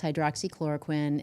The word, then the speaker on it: hydroxychloroquine: You did pronounce it correctly. It's hydroxychloroquine, and it's a drug that's been around, I think, since 1920s.